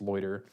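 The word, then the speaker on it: Lauter: But the good news is a brand new company called Loiter, L-A-U-T-E-R, I want to say it's pronounced Loiter, was incorporated like 2 weeks ago, and they have purchased the plant in Geddes, New York.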